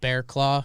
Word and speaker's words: Barraclough: say we've been excited that it's been called bearclaw because that is the actual pronunciation but if you saw if you saw